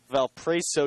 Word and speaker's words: Valparaiso: in the first inning I pronounced Valparaiso University like a bell pray say like a caprese sandwich I guess the Italian